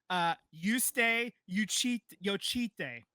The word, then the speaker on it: Justė Jocytė: I do have a pronunciation. Justė Jocytė.